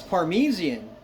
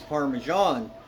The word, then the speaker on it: parmesan: there it is and he's like oh that's parmesian I said no it's parmesan he's no it's parmesan